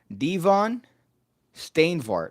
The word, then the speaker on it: Devon Steinvart: Devon Steinvart. Oh, Devon, like the wrestler, like Devon Dudley.